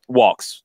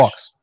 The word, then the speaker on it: Walkes: Anton, is it Walkes? Walks. English. Walks. Oh, Walkes. Okay.